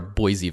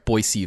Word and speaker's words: Boise: what are what are boise vibes or i'm sorry boy c vibes boise you have to pronounce it correctly otherwise you're wrong i don't think that's